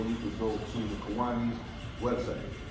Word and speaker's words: Kiwanis: Kiwanis.